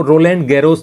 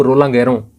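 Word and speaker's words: Roland Garros: जैसे आप यदि टेनिस में थोड़ा बहुत शौक रखते हो तो फ्रेंच ओपन टेनिस होता है, और उसमें आप उसमें स्पेलिंग देखेंगे तो आपको रोलैंड गैरोस दिखेगा, लेकिन उसका उच्चारण है वो रोलां गैरों, इस प्रकार से किया जाता है।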